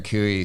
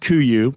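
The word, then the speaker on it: Kuiu: to the nines and I see you're wearing kooy so uh I know you have a personal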